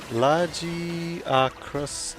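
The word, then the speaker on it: Lagiacrus: Lagiacris is the initial pronunciation in game, but I'm used to saying Lugiacris.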